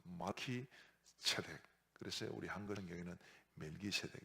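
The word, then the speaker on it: מלכי־צדק: 그래서 이 멜기세덱, 멜렉과 체데크라는 말이 합친 말인데 이 합쳐지면서 멜렉이라는 말 발음이 말키라는 말로 바뀝니다. 그래서 말키 체덱.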